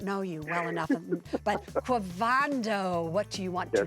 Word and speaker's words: Quavondo: Quavando? Yes, ma'am. Quavando.